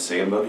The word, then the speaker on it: Sandbothe: What is your last name, and can you spell that? My last name is Sandbothe.